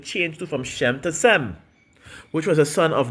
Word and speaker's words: Shem: If you need just to be in, Shem, as you see, it's pronounced Sem, verse 36, which was